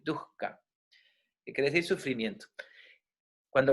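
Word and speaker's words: duḥkha: sufrimiento en sánscrito duca se escribe d H K H a duka se pronunciaría correctamente duka que quiere decir sufrimiento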